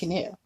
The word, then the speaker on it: Gnu: GNU, that's why he said there was no GNU, like good GNUs, but Gary GNU. I thought the G was silent. Well, normally the G is silent, but it's actually pronounced GNU.